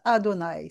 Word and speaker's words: Adonaï: Quand on le voit écrit, on le on ne prononce pas le nom sacré mais on le prononce Adonaï.